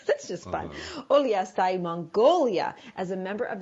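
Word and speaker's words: Uliastai: More background, we learned that Tomás lived in, he told me how to say this. You're going to have to help me. Oliastai. That's just fun. Oliastai, Mongolia, as a member of the U.S.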